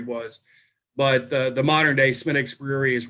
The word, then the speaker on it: Smithwick's: It's spelled Smithwick's, but it's pronounced Smittix.